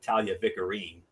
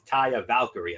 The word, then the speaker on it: Taya Valkyrie: or as MF likes to call her, Talia Vicarine. It's Taya Valkyrie, MF, if you want to get the pronunciation right.